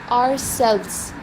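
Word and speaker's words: ourselves: अब जब हम VES बोलते हैं ना, तो उसमें साउंड आती है Z की, आवर सेल्व्स. ठीक है, आवर सेल्फ नहीं बोलते, आवर सेल्व्स.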